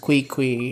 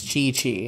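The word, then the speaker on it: Qiqi: It took me a while to realize, even after everyone told me, like, it's not pronounced Kui Kui, it's Chi Chi, and I was like, okay, I didn't know.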